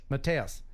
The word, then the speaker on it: Mattias: Matthias.